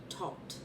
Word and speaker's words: Thoth: My first deck based upon the Rider Waite deck, the major arcana, minor arcana was the Tot deck, Thoth, and yes, you pronounce it as Tot.